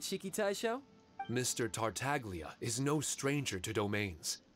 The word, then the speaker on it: Tartaglia: It's nice that they actually pronounce the G, Tartaglia, instead of Tartaglia.